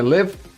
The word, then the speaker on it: Liv: can just call me liv it's pronounced liv like in live and that's the easiest